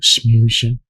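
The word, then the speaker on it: schmoozing: That's how you say it, smoozing.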